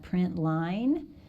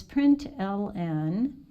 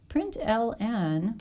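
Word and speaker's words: println: is put an ln some people pronounce that print line but it's print ln print ln when i run it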